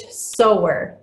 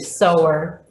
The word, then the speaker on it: sower: That's how that word is said. And I can't see any of your faces to know if you're laughing at me for the alternate pronunciation. God, the great sower is how we pronounce that.